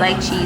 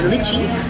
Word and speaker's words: lychee: and then I got a lychee strawberry, or as the Americans say, lychee. Lychee strawberry. I was just like, that's not it.